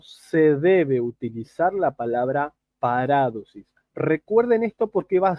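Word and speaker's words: παράδοσις: Yo ahí me comí un acento en la A, en la segunda A. No es paradosis ni paradosis, es paradosis.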